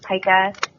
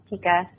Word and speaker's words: pica: An odd behavior is when cats are focused on eating something that's not food, that's, pica, or pica, some pronounce it either way.